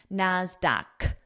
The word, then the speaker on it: NASDAQ: And the pronunciation of this is a k sound, NASDAQ. And notice it also requires the article, the Dow, the NASDAQ, because it's unique. There's only one, and we use the when something is unique, like the sun, the moon. I wrote that pronunciation here so you remember, NASDAQ with that k sound.